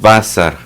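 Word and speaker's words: בָּשָׂר: dice esto en hebreo la palabra hebrea es basar no basar así como esa de menamor tiene un bazar bazar sin el este sin acento y con ese bazar literalmente se traduce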